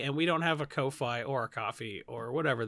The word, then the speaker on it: Ko-fi: It's got Fi in it, like Wi-Fi.